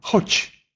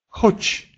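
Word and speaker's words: chodź: Если же звук «д», «з» и с черточкой стоит в конце слова, то тогда он оглушается и произносится как мягкий «ч». Например, «хоч», «хоч», «уйди».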